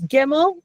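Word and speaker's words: gimel: Gimmel is your hard g sound. Uh we only have hard g sounds in Hebrew. We don't have any other way. It's gimmel and that's it. So, there's no uh like I said, giraffe, a soft one, or giraffe. It's just g.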